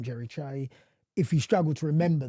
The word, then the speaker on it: Kyei: And the reason for that is that my surname, Kyei, is pronounced Che. Right. Obviously, no one would know that unless you're Ghanaian.